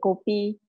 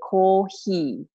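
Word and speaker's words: コーヒー: But in Japan, you cannot say kopi. You have to say kohi, all right?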